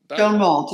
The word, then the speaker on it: Schonwald: Am I pronouncing this right? Schonwald? Schonwald, yes.